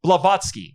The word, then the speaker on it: Blavatsky: i said i'm saying this right patrona leftovsky blavatsky excuse me said it wrong the founder of